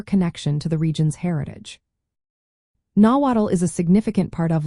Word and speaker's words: Nahuatl: The TL combination is pronounced as a single sound, similar to the TL in the word battle.